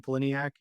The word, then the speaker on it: Pollyniak: Pliniac, spelled like poly p l y n i a k.